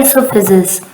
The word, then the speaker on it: esophagus: नाम है वो है इसोफेजिस. ठीक है. The slop food pass into the food pipe or esophagus. ओ आप सोच रहे होगे क्यों नहीं बोल रहे, ओ प्रोनाउंस नहीं होता है, जैसे कि नाइफ है